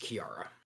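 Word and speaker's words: Key-Ara: and her name is Kiara and spelled k-e-y hyphen a r a oops spell that again for me k-e-y hyphen A R A but it's pronounced Kiara oh so I would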